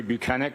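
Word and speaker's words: Bukhenik: My name is Buchanan. My last name is spelled B U K H E N I K.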